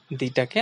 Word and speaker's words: the: যদি ভাওয়েল দিয়ে শুরু হয় তার সামনে আমরা উচ্চারণ করব দি, আর যদি সেটা কনসোনান্ট দিয়ে শুরু হয় তাহলে সেটাকে আমরা বলবো দা।